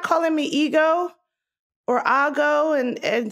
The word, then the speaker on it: Ego: name here's the thing my name with a nigerian accent would sound like ego i don't expect a person who is born in america to be able to say that so the way they would is a go wodem now even my friends